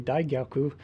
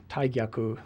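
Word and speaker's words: 大逆: arrested in 1910 as part of the the Taiaku incident. Taiaku means great treason. And uh those of you uh who know Japanese may think I'm mispronouncing it or that it should be Digyaku, but when you have terms that are related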